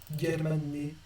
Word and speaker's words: Germané: Vraiment prononcer ce G de manière gutturale et pas je ou je sais pas, mais vraiment un G normal. Si j'avais voulu prononcer ça je ou je, j'aurais mis un G à la place.